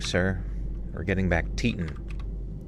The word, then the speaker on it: Teton: Its screen said Grand Teton. All right, check that real quick. Pronunci I need like a team pronunciation check quick. Like sir, we're getting back. Titan like tits. Teton. Grand Teton.